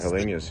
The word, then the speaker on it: Helenius: Yeah, Helenius, yeah.